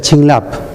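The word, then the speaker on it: བྱིན་རླབས: Y esa palabra se pronuncia Chinlap, que está escrita ahí.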